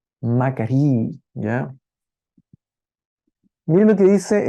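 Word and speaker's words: μακάριοι: Un diptongo que se pronuncia i también, así que se pronuncia macarí, ¿ya?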